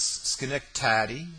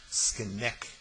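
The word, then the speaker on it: Skene: and then bowing slightly he pronounced her name skin taddy with a strong accent on the penultimate syllable sken corrected his hostess I expect you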